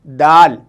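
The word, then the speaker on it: دال: अगर लफ्ज़ के बीच में ये वोवेल्स आएंगे तो हम इस तरीके से इसे शो करेंगे, दाल, अलिफ, दा और लाम, दाल, दाल, अलिफ, दा, मीम, दाम।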